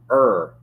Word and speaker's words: Ur: in your mind, is that Abraham is from Ur. U-R is how you spell it.